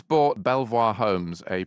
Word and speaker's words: Belvoir: is except in leester it's pronounced Beaver because in the Middle Ages no one could pronounce the French word Belvoir and therefore I think